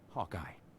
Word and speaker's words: Hawkeye: It's pronounced Hawkeye.